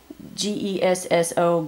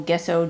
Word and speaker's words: gesso: They had some kind of, you know, stock print canvas on them, and I put the G-E-S-S-O, Gesso, Gesso, different artists pronounce it different ways, on them and painted over them.